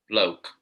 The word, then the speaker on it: bloke: Bloke. Bloke. How do you pronounce this? Block. Okay. So you see, like there's a silent E here, so pronounce bloke. When there isn't, block.